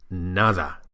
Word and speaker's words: nada: Be sure to produce a proper Spanish D sound. That's to say with the tip of the tongue touching the teeth as in the English words this or that. It's the same position for the Spanish D.